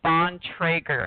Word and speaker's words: Bontrager: pronounced a Bontrager the last name is pronounced on Traeger and it's 100% old